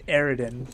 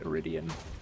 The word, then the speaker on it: iridium: an excellent scientist although she says ariden which i'm pretty sure it's actually pronounced iridium at least in the